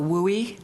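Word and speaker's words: WUI: of council about the wowie did I pronounce it correctly yeah you'll hear will we a lot because wildland-urban interface gets tiring after a while when you say a lot so wildland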